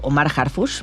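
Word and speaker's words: Omar Harfouch: Por lo mismo, este personaje, llamado Omar Harfush, que se pronuncia casi igual que nuestro secretario de Seguridad, pero que nada tiene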